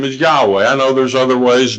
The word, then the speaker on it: Yahweh: I know there's other ways, Jehovah, and stuff like that, but in Hebrew, his name is Yahweh. YHWH. The original Hebrew only had consonants. They didn't have the vowels. So Yahweh is the best pronunciation.